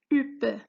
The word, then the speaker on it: huppe: Une huppe, H est muette.